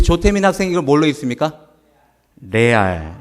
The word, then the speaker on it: 레알: 그냥 영어를 그냥 우리말 그냥 발음법으로 그냥 그대로 읽는 것입니다. 이것을 레알로 읽습니다.